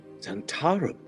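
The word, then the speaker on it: Zhentarim: Zentarum. So that's how you pronounce it.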